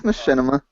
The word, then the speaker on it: machinima: It's Machinima. Is it Machinima? Okay. It's a Yiddish word.